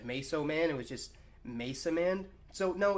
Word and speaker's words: Masaman: if you don't know it's supposed to be pronounced Mesa man you know like Mason it was like a